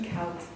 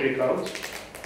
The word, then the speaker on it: Eekhoud: Is this how you pronounce it? Eekhoud. It's a Flemish name.